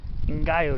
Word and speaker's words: ngaio: established in these coastal canyons this is called ngayo tree and it's spelled ngaio i think it's from new zealand